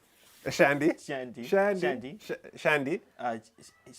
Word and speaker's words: Chianti: How do you pronounce this? Shanty. Shandy. Shanty. Shandy. Shandy. CHIANTI. CHIANTI. Shanty.